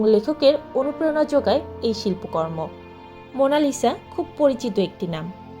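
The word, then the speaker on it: Monna Lisa: যেমন এই ছবিটির নাম এটি একটি উচ্চারণগত ভুল এর সঠিক নাম হল মনা লিসা যার অর্থ মাই লেডি 16 শতকের শুরুতে লিওনার্দোদা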